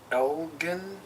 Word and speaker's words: Elgin: 8, It's sponsored by the Glen Moray Elgin, if I remember right. It's a hard G.